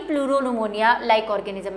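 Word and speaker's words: pneumonia: Full form लिख रही हूं मैं PPLO की, प्लूरो न्यूमोनिया लाइक ऑर्गेनिज्म। ठीक है, जब आप इसको इंग्लिश में पढ़ेंगे, मतलब कहीं जगह इंग्लिश में लिखा हुआ देखेंगे, तो न्यूमोनिया की स्पेलिंग P से शुरू होती है।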